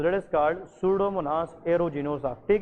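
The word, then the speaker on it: Pseudomonas: Bacteria involve होती है that is called सूडोमोनास। ठीक है, इसमें पी साइलेंट है, तो दैट इज़ कॉल्ड सूडोमोनास एरोजिनोसा।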